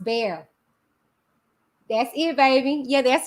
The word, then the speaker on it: Bexar: Bexar is pronounced bear.